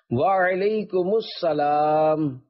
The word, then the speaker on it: وعلیکم السلام: جواب سناتا ہوں، پھر آپ اس کو دہرائیے۔ وعلیکم السلام، رضائے حق کے لیے تم سلام عام کرو،